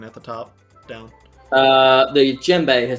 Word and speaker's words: djembe: Say it like it's a gemstone. Djembe. 2. I'm not going to say it anymore because I'm going to continue to say it wrong, and you guys are going to continue to tell me how to say it. And I'm not going to get it. Just making sure you don't say Jim, as in the name Jim.